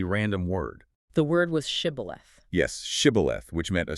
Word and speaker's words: shibboleth: The Ephraimites had a linguistic quirk that made it physically impossible for them to pronounce the shif sound. Oh, wow. Yeah. So when commanded to say shibboleth, they would inevitably say sibboleth. That tiny slip of the tongue, a single missed consonant, revealed their true identity.